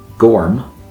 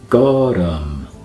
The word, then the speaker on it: gorm: It's not gorm, but gorm. Gorm.